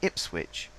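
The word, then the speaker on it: Ipswich: it's the same here although we say IP switch we do actually say the witch nip switch we're a weird country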